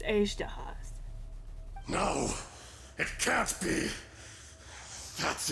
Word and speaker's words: Azhdaha: Ashdahas? No, Paimon, it's Azdahas.